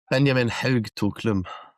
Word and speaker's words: Benjamin Haug-Toklum: Can you correct me my pronunciation, please? Benjamin Haug-Toklum.